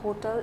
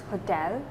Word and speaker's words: hotel: It's not hotel, it's hotel. Okay. Because the sound of E is A, right? So you need to correct it.